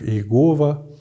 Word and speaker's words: Иегова: традиции прочтения этого имени некоторые считают что это имя должно было произноситься как Яхве другие как Иегова Ну в общем-то Это